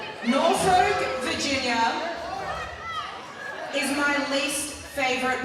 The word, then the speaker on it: Norfolk: She did not say it right, that is true. From Sydney, Australia, did not know it is Norfolk instead of Norfolk.